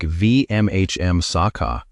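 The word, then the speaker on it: vīmaṃsaka: The word Vimangsaka, and say it like VMHM Saka, means the inquirer, the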